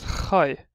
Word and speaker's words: Khai: The next one we have now is Khai. It just pronounced as a kh, like a K. It's a kh.